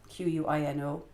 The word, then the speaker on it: quinoa: So it looks like it's spelled quinoa, Quinoa, but it's called quinoa. Don't ask me why.